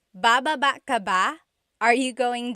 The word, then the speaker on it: baba: So depending on how you're saying it, it could be baba, chin, baba. Emphasis is on the first syllable, baba. Then there's baba. Emphasis is on the second syllable.